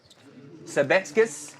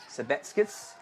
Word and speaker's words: Sabetskis: Sabetskis is the correct pronunciation. Thank you very much. Appreciate your help there in the chat. Sabetskis.